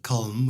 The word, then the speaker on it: Colm: I pronounce it column, which I'm not 100% sure is correct.